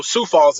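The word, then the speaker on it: Sioux Falls: Um and you know so Sou Falls is how you pronounce it by the way.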